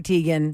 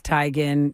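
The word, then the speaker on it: Teigen: Chrissy Tegan a lot is like, listen, it's not Tegan, it's Tyan, but everyone says Tegan and I have to conform.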